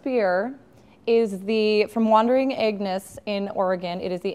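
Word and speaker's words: Aengus: Aegnus. It's spelled a little like anus. Oh. If you want to make the G there's silent.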